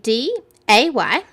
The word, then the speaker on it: Daylio: So that was Day Leo. So it's, I'll spell it for you again. Let me see. DAYLIO. So it's Daylio.